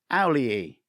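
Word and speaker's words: Auli'i: Owl, as in the bird. Lee, then another Lee. Owlie.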